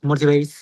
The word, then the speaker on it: motivated: Have you been feeling more motivated or less motivated recently? Why? Okay. Very good, Hugo. Just practice pronunciation. motivated. When the ending is ted d or d e d, the pronunciation is it.